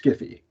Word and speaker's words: sci-fi: and whatnot, that's sci-fi, which some people pronounce sci-fi, but which he said should be pronounced skiffy.